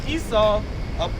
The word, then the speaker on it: Esau: It's pronounced Esau.